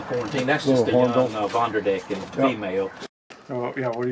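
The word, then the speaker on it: Von der Decken: That's just a young Vonderdecken female. Oh, yeah. What are you feeding? They get beef liver, hamburger meat with a low fat content, crickets, mealworms, and fruit. So this is the Vonderdeckers? Vonderdecken. Vonderdecken.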